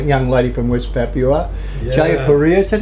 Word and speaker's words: Jayapura: Jayapura. Is that how you pronounce it? Jayapura.